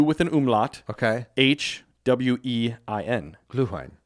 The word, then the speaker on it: Glühwein: My first one is going to be Gülwein from Germany. Ooh. Gülwein. How do you spell it? GLU with an umlaut. Okay. HWEIN. Glühwein. Glühwein.